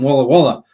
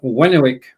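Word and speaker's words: Warwick: right this time because I used to say guy cook from Walla Wala but but it's not it's guy cook from woick and if I've got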